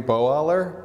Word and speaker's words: Boaler: Joe can someone help me with how to pronounce her name boaler b o a l e r and she's